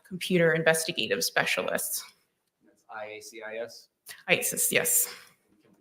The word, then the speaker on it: IACIS: ISIS, yes. Can we call it ISIS? Yes. How do you say it? IASIS.